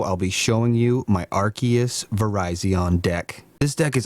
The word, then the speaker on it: Arceus: the room here this pokemon right here is pronounced arceus if you say it differently well you are